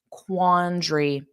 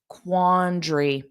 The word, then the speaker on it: quandary: You'll learn pronunciation naturally by listening to me say the word quandary. Notice that A is not pronounced at the end. Quandary.